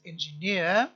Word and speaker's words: engineer: therefore a noun pronounced engineer look at the stress there's a weak stress at the beginning and a major stress on the last syllable it is etymologically it